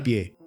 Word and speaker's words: pi: nombrar un pastel, utilizarían el número pi, que también se pronuncia pie en inglés, con sus 5 primeros decimales, es decir, 3, 14, 15, 9.